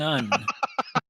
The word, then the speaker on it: Un: Un is the young. Un Un's sounds the current, yeah. rhymes with young.